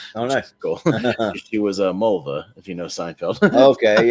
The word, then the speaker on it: Mulva: She was Mulva, if you know Seinfeld. Okay, yeah. Dolores or Mulva or whatever you want to call her. It rhymes with the woman's body.